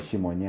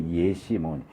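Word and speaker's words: ישימון: 헬라 예 헬라어로 이제 정확한 발음은 시몬이 아니고 예몬 예몬 예시인데이 예몬이라는 단어가 광야라는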